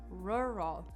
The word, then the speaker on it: rural: Rural. R-U-R-A-L. That has 2 of that difficult sound that we have a lot in English.